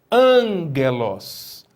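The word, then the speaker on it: ἄγγελος: A letra gama, seguida de outro gama, ou K, ou Xi, ou Ki, possui som nasal, né? Ela possui um som nasalado. Por exemplo, você sabe que palavra é essa? Angelos.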